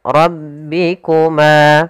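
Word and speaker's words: رَبِّكُمَا: Kemudian ro ra ro tebal rabbikuma.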